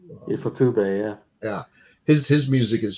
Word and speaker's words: Ifukube: Godzilla films are so, identified with, am I pronouncing his name right? Ifukube? Ifukube, yeah.